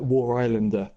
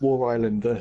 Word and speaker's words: War Islander: We've been saying his name wrong for the whole time he's been in the leagues. It's War Islander, not Warislander. oh, I okay.